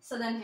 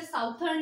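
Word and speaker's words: southern: नॉर्दर्न hemisphere and सदर्न hemisphere. Okay इसे साउथर्न नहीं बोलते हैं. We should correct pronunciate.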